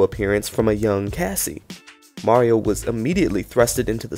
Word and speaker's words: Mario: Now initially, when he debuted, he wanted the public to incorporate the Jersey slang pronunciation of his name, calling him Mario.